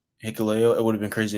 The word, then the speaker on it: Hikuleo: Hikuleo.